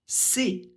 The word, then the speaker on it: ces: On le prononce c'est avec le son et. Je vous laisse mettre pause pour le répéter si vous en avez besoin. N'oubliez pas de faire la liaison. Il finit par un S, donc il va falloir prononcer ce S comme un Z quand le mot suivant commence par un H ou par une voyelle.